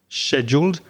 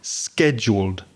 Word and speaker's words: scheduled: a very soft sh, scheduled. And in American English, it tends to have a hard k sound, so scheduled flight.